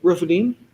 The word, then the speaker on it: Rephidim: Rephidim, Rephidim.